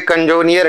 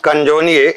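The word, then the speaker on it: Canzoniere: वैसे तो डियर ये इटालियन वर्ड है, पढ़ने में तो आ जाता है कंजोनियर, लेकिन इसको प्रोनाउंस करते हैं क्या, कंजोनिए।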